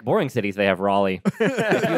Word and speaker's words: Raleigh: What is the proper pronunciation of it? It's not Raleigh. It's Raleigh. My job is technically based out of Raleigh, North Carolina.